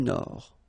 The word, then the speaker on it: Nord: Amérique du Nord. Final D not pronounced. L'Amérique du Nord.